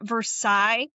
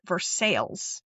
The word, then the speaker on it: Versailles: It's not Versailles like France. I think they pronounce it Versailles or something because it's different but it's Oh yeah.